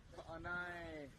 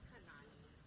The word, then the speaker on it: Kanani: Ka'anai. Is that how you say it? It's Kanani.